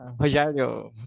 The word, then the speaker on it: Rogério: the chat kind of back and forth okay rerio am I pronouncing your name correctly yeah rerio perfectly can you hear me good all right